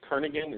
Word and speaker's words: Kernaghan: your last name is Kernaghan, is that correct? Yeah, that'd be the proper way to pronounce it, Kernaghan or Kernaghan. Some say tomato, some say tomato.